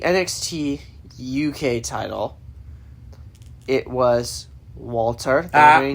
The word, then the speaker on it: Walter: It was Walter. Say his name right. The Ring General Walter. No, Walter. Walter.